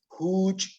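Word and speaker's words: ju'uch: Huch. Es J-U-U-Ch glotalizada.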